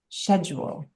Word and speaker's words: schedule: I know that there's there's two ways to say it. I bet it goes back to British and American. It I probably bet you does. that's what it is. Because C's are pronounced differently in the UK than they are here.